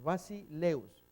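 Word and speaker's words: βασιλεύς: La pronunciación en un diptongo va en la primera vocal, el acento escrito va en la segunda. Entonces, Basileus significa rey.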